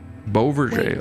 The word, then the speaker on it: Beauverger: Beauverger. Beauverger. Okay, that's how you pronounce Are it.